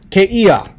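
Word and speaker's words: kēia: easiest one to remember keiia there is no okina when you write out but the native speakers pronounce it as there is an okina there so they pronounce it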